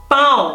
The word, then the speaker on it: pão: parce que le A tilt et le O, comme je dis, ça fait un. Pão. Surtout ce mot-là, il faut faire très attention, parce qu'il y a un mot qui est très similaire, qui s'écrit P-A-U, qui s'écrit P-A-U, qui se prononce pau, qui veut dire il ne faut pas confondre pão et pau.